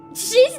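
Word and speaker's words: 四: with death usually because four can be pronounced as she um yeah she's on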